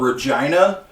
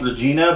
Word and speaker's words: Regina: of the players live in this town called Regina you would think it's pronounced Regina because that's how it's spelled but it's called